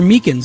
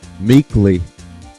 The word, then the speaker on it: Meekins: for it actually officer Meekins at the Detention Center told us ah that poor little doggy poor guy I keep getting his name wrong and calling him meekly he told us something